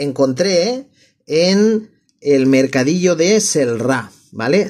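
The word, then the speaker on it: Celrà: en el mercadillo de celra vale celra se escribe con c vale c e l r a O sea si lo leyera en español en castellano leería celra como cielo vale Lo que pasa es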